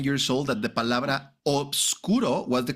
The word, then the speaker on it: obscuro: They omitted the FB sorry the B, right? So most likely they omitted it because it was like a it was a little bit more difficult for people to to pronounce the obscuro because in the end basically you like deleted the B when you were like linking sounds. And now everybody says oscuro, right? Which is like a little bit faster and easier to pronounce.